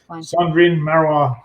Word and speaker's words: Cendrine Marrouat: But if that's the case, then I'll have to use, and I'll never be able to pronounce it, so maybe that won't work. But Cendrine Marrouat.